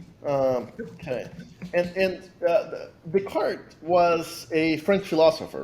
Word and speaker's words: Descartes: pitch what what is the cart underw writing yeah so first off thanks for saying it correctly most people call it Descartes um you know my